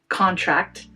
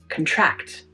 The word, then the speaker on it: contract: For instance, this word can be a noun, a written agreement, when stressed on the first syllable, contract, or it can be a verb to decrease in size or number when stressed on the second, contract.